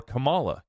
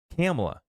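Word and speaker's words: Kamala: Trump is elected or Camala camela sorry I shouldn't mispronounce her name I'm trying to correct myself now camela even if camela is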